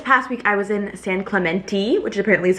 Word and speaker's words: San Clemente: This past week I was in San Clementi, which apparently is how you pronounce it. I thought it was San Clemente. Clementi ti. That's apparently what the locals call it.